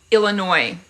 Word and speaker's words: Illinois: I'm in I'm from Illinois I'm that's why I don't call it Illinois the US is silent ah I was there